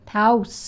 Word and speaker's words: Taos: where is he from house house rhymes with house and mouse spouse hey guys great show